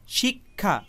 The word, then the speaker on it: শিক্ষা: এবার এই বিষয়টি খুব ভালোভাবে খেয়াল করে দেখুন, ক এবং মূর্ধন্য স মিলে ক্ষিয় এই যুক্তবর্ণটি গঠিত হয়েছে, কিন্তু উচ্চারণের সময় শুধুমাত্র ক এই বর্ণটি উচ্চারিত হয়েছে, মূর্ধন্য স এই বর্ণটি কিন্তু উচ্চারিত হয়নি, তাই না?